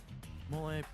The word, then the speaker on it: mole: Uh, in Mexico, we have mole kind of pronounced like Ole, which is similar.